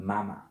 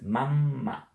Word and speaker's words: mamma: You must, not you have, you must pronounce the double. Because we read what we see. So this word, it's not bella, it's bella. This is not mama, it's mamma. And this is not pizza, it's pizza.